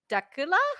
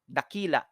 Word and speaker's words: Dakila: Uh Dakula? How do you say it? Dak- Dakila. Tequila. Oh, it's like tequila.